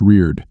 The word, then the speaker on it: Richard: with in cjun country Richard is pronounced reir yes do you know